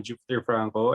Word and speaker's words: Jupheter Franco: how then let's uh jump into Jupiter uh pronouncing your name correctly yes sir yeah okay I'm great man Jupiter Franco I represent South Dakota I'm 26 years old